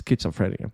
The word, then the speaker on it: schizophrenia: the Google thing because I always pronounce this sh but it's schizophrenia okay sorry about that